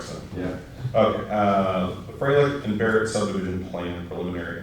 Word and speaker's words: Froehlich: Froehlich. Yeah. Old German pronunciation, right? There you go. Well, started there. We said Froehlich, and then it got, changed from there.